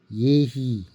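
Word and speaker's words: יְהִי: 그 있으라는 말이 바로 예히 이렇게 쓰고 예히라고 읽습니다.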